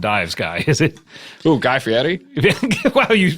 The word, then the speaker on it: Guy Fieri: Ooh, Guy Fieri? Wow, you pronounced it so perfectly. That's beautiful. Guy That's Fieri. a true Italian pronunciation.